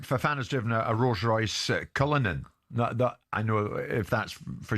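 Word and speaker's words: Cullinan: I mean in the past I mean Fan has driven a Rolls-Royce Cullinin I know if that's for sure the right you will is that the right pronunciation a Lamborghini Urus I mean you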